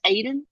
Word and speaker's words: Aden: So But you, yes, so you said that's Aiden? yes, his name is pronounced not his name is spelled Aden.